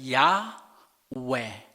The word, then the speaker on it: 야훼: 그런데 어떤 학자들은 여기에 동의를 하지 않고, 아니다, 여기는 Y 밑에는 아 발음이 있어야 된다. 그래서 야훼. 그래서 어떤 사람들은 야훼라고 읽고 어떤 학자들은 여호와라고 읽는데, 오늘날 우리가 가지고 있는 성경에서는 여호와라는 이름으로 통일하자 해서 이제 여호와라고 읽고 있는 것입니다.